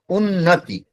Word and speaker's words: उन्नति: आप जब उच्चारण करते हैं, देखिए उन्नति 2 है, पहला वाला उन्नति जोर से बोला जा रहा है या ज्यादा जोर दिया जा रहा है, लेकिन इसमें छोटी ई है, उन्नति उच्चारण में ही शॉर्टकट में आ जा रहा है, इसलिए चौथा विकल्प होगा।